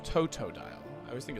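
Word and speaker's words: Totodile: I always think it's toe-do-dial. It's toe-toe. It's toe-toe-dial.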